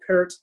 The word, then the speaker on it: Peart: I think if you look at Neil Peart, he pronounces it Peart, by the way, like the yes. Yeah. People call him Neil Peart, and it's not. It's Peart, if I'm saying it right.